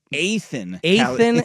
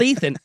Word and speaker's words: Athan: Athan. Not Ethan.